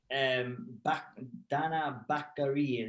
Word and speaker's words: Danaa Batgerel: Yeah, so this fight, I think Danaa Batgerel is how you pronounce that name.